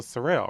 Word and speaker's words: Cyril: Cyril, right?